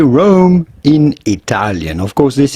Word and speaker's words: Rome: Well, that's not how we say it in English. And maybe that's how they say it. I'm not sure how they say it in Italian. Yeah, Rome. But we're going to give that. In English, we say Rome.